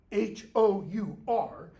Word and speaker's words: hour: French word for hour, H-O-U-R, and it's where we in English get that word H-O-U-R, and it's why we don't pronounce it hour. We pronounce H-O-U-R just like what else? O-U-R.